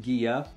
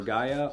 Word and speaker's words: Ghia: i do want to say that it is pronounced gia it's not gia or gaya or gahaya it comes from the italian name for jia